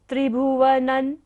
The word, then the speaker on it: त्रिभुवनं: शशांक कला कलाप शुभ्रा गुणास त्रिभुवनन बिंदी के बाद क्या है, त वर्ग है तो बिंदी को उच्चारण क्या होगा, न। त्रिभुवनन शुभ्रागुणास्त्रिभुवनन तव लंघयन्ति।